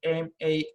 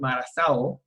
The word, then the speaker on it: Marazao: So it's MARAZAO. Marazao? That's how you pronounce it?